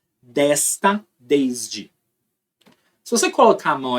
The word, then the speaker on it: desde: Agora, quando você pronuncia o S no desde, vibra. Desde. Tudo vibra.